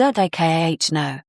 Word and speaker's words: Americano: And Americano is ah-mer-i-cah-no.